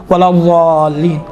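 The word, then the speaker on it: الضالين: ضین آتا ہے، ولا ضالین، ضا نہیں، ولا ضا، یہ آپ تصور کریں دال جیسا ادا ہو رہا ہے، دیکھیں ولا ضالین، ہاں یہ انشاءاللہ تعالیٰ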